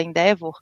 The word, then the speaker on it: Endeavor: Existem, por exemplo, canais de conhecimento muito poderosos, como o canal da Endeavor, né, que se escreve Endeavor, né, se fala Endeavor, mas é só procurar